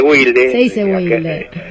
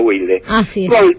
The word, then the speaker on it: Wilde: de la zona Sur bueno se dice Wilde digamos al británico se le dice Oscar Wild al argentino se le dice Eduardo Wilde vaya a sa ver